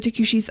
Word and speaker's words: Tucuxi: If you want to look the takushis up, they are spelled Tucuxis. Oh, I did not spell that correctly at all. They are nothing like what they sound. Not phonetic in the least.